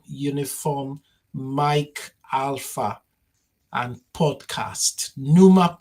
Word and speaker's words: Pneuma: Mike Alpha and podcast, NUMA podcast as in pneumatic.